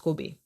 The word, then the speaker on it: Kobe: in the city of Kobe actually pronounced Kobe so my friend told